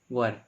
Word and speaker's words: were: इसको हम लोग वॉज पढ़ते हैं, और WERE को हम लोग वर पढ़ते हैं, इसको हम लोग क्या पढ़ते हैं, वर। ये राइट प्रोनाउंसिएशन है, इसको लोग वेयर पढ़ते हैं, इसको वॉच पढ़ते हैं, तो ये रॉन्ग प्रोनाउंसिएशन है।